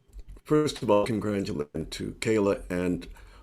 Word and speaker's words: Kalah: of all congratulations to kayla and my apologies for pronouncing your name wrong throughout my presentation i thought it was kala which is also a nice name um so you you